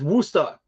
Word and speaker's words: Worcester: And yes, Worcester. That's how we pronounce it.